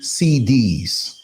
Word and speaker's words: cedi: Well, the Ghana CD, which if you don't know, the CD is spelled CEDI.